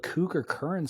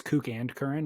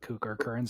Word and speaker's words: Kook and Current: let's do it cool and I said it wrong it's Kook and current but everybody calls it Kooker current so either way it works real quick if I